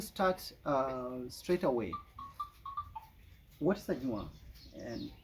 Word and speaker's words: Anywaa: Not Anwak, Anwaa. Anywaa. Anwak is an English word. It's their own pronunciation.